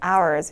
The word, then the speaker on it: hours: 발음하시면 절대 안 되고 h 묵음으로 hours 이렇게 발음해 주시 면 되는 거